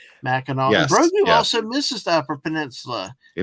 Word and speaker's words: Mackinac: But if Simply anyone, Steve, it's spelled as Mackinac, but see, I would pronounce it as Mackinac, but yeah, I do know that it's Mackinac.